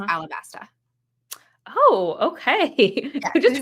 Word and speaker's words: Alabasta: So in Japanese, the L and the R are kind of interchangeable, I think.